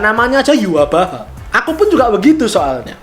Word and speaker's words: Yhwach: main Bleach Brave Souls pasti nggak tahu kalau pengejaan namanya aja Yhwach. Aku pun juga begitu soalnya. Aku baru tahu kalau ternyata cara bacanya Yhwach itu ya dari game ini.